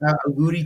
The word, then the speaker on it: auguri: So how do you pronounce this? Auguri Jan.